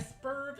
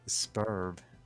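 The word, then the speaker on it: Sburb: But this is absolutely spurb. Like, suburb with a letter missing, because they're home stuck.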